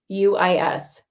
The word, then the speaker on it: Groothuis: Douglas Groothuis. It's Groothus.